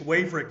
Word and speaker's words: Waverek: say your last name yes it's werick it's a it's a well-known polish name all right well